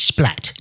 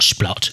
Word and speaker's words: Splat: "It's Splat, not Splot, and can't you read?"